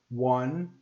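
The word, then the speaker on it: hundred: Sem em inglês, eu falo 100. Repeat. 100. Você vê que o H tem som de R. 100, igual casa, não é? House.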